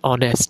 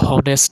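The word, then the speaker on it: honest: যেমন দেখেন অ্যান অনেস্ট, আমরা কিন্তু হনেস্ট বলি না, আমরা বলি কি অ্যান অনেস্ট, মানে একজন সৎ ব্যক্তি।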